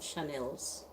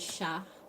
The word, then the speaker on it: Shael: whatever my name is shael that's my name it's not Chanel it's not Chanel it's not Chantel shael let your mouth say ah ah sha Shel Chanel drop the cuteness